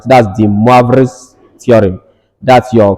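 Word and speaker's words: de Moivre: Right, this word here is pronounced moi in French and not moi as per English. So this becomes moi, and this one is vrai. All right, so this is actually De-Moivre's theorem, not just Moivre's theorem as they call it.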